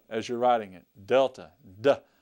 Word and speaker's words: Delta: bomb fuse or something but that's the letter Delta that's the letter Delta okay practice a few